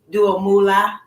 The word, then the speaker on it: Duo Moolah: guest joining me today I have dual Moola joining me and you could correct me if I pronounce that wrong do a Moolah yeah okay so he is an